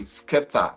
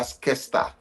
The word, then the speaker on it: Skepta: I go say, "Mommy, Skepta." She go say, "Sorry, sorry, sorry. Oh, yeah, Skesta."